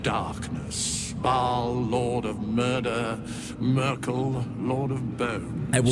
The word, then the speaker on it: Myrkul: Merkel, lord of bones. I will never get over the fact that his canonical pronunciation is Merkel.